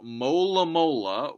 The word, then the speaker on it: Alomomola: Each syllable's distinct, whereas A-lo-mo-mo-la. You got two momos in a row, you got al and lo and la. They're all very similar.